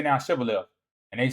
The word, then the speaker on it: Shibboleth: They cannot pronounce chin and sound properly, saying Sibboleth instead of Shibboleth.